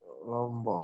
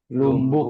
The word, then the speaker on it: Lombok: Lumbuk kan. Misalnya antum bilang, saya dari Lombok. Ana min Lombok saja. Jangan bilang antum ana min Lumbuk. Ya kan? Tapi dibacanya, di lisannya itu sesuai sebagaimananya. Bukan sesuai tulisannya.